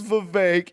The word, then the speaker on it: Vivek: I say, my name's Vivek. It rhymes with cake.